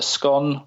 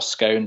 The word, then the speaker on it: scone: parts so you've got what's either a scone or a scone depending how you want to pronounce it I was brought up calling it a scone but I tend to hear more people call it scone so I refer to as that a little bit of